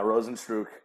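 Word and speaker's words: Rozenstruik: Ghana yeah yeah what roads what's his name Rosen's true yeah Rosen's true yeah yeah Rosen's true has a kickboxing background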